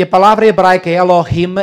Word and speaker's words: Elohim: E a palavra hebraica Elohim é um plural. O sufixo him, pronuncia-se assim com som gutural, o sufixo him é um plural.